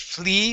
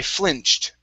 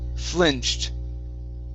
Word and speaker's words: flinched: good uh next up a short eye with flinched okay instead of flea flinched it's fl i flinched i flinched okay one more time uh push the tongue down instead of flee flinched ladies good i flinched realizing